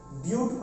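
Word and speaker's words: but: उसके बाद बट लिखते हैं, बट नहीं पढ़ते हैं इसको, ब्यूट पढ़ते हैं। क्या पढ़ते हैं? ब्यूट।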